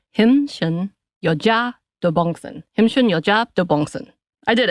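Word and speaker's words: 힘쎈여자 도봉순: So the Korean pronunciation, and I'm trying to really get into my culture, is 힘순 여자 도봉순.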